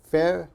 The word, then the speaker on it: February: b sound BBB okay so we should think of this as F Fe Brew brewary Fe brewary February February febru February February okay